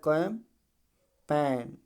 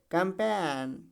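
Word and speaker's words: campaign: पहले क्या जी तो जी पूरी तरीके से साइलेंट हो जाएगा तो क्या पढ़ जाएगा कैम पेन कैम पेन कैंपेन क्या पड़ा जाएगा कंपेन ठीक है ये चीज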